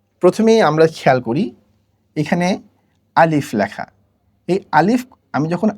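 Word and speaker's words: ا: তো প্রথম বর্ণটি হচ্ছে আলিফ। আলিফ বলার সময় আলিফ বা আলিফ এরকম কোনো টানা যাবে না, না টেনে হরকতের মতো করে এটা পড়তে হবে।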